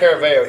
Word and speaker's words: Caraveo: No, Ryan Caraveo.